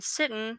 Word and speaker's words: Sitton: And Sitton rhymes with kitten.